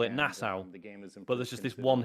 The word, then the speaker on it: Nassau: Most was called Nassau, just having a partnership but spelled N-A-S-S-A-U. And I knew it's pronounced Nassau because that's how they pronounce it in Assassin's Creed Black Flag.